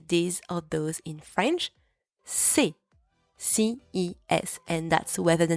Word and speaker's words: ces: C'est.